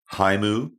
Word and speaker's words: HAIMU: I pronounce it HIMU, which is not something that the AI co-host will pick up directly, but it's HAIMU is the acronym.